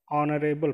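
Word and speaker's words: honorable: हम क्या पढ़े हैं ऑनरेबल पढ़ ऑन मैं ऑनलाइन बल पा रहा है कौन का मतलब हो गया कि जो है साइलेंट है इसको हम उच्चारण क्या कर रहे हैं ऑन कर रहे हैं यह आज से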